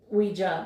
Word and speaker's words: ouija: the difference is luigi we it is actually pronounced ouija boards ouija boards are actually now considered to